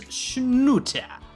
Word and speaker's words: Snute: today a game between the red Zerg liquids schut which is apparently the correct pronunciation and his opponent in the lower left